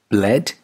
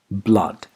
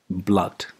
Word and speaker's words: blood: the base turned right up number three b-l-o-o-d bled wrong blood blood that's the correct pronunciation the vowel sound is not a it's